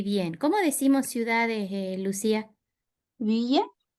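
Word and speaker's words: ville: Villa. V. Sí. Esta es una excepción a esa regla de la I. W l suena I. Sí. Lo pronunciamos como v i l nada más. Vil.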